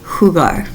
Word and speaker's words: jugar: So listen to how I pronounce hugar. That u makes a u sound har. When we replace it with ue e, that sounds then becomes huear.